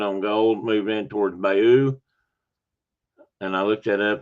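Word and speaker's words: Bayeux: Um the gold be the British soldiers who landed on gold moved in towards Bayou and I looked that up. That's more or less how that's pronounced. Bayou strategically important for the Allies as a logistical hub.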